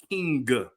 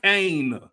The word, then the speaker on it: King: Emphasis: Eddie King, not Kane. Eddie King, like a king wears a crown.